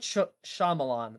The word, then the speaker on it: Shyamalan: me up I can't even what it's a Shyamalan yeah it's M Night Shyamalan but I'm never gonna say his name right